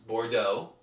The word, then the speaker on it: Bordeaux: And even though I haven't studied French, I do know that's how you pronounce it. For all those French guys, or non-French guys, it's B-O-R-D-E-A-X, Bordeaux.